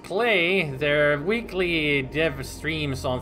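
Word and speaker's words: Klei: bladder okay it's pronounced play their weekly div streams on Thursday are actually called rhymes with play ah good to know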